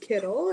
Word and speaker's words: Kittel: My name's Kittel. It's pronounced similar to like a Skittle.